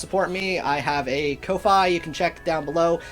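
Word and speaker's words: Ko-fi: me i have a kofi you can check down below i guess it's supposed to be pronounced coffee but you guys know what i'm talking about when i say kofi so that's why i'm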